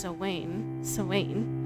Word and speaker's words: Samhain: The Semaine, approximately pronounced Samhain, okay, is a Gaelic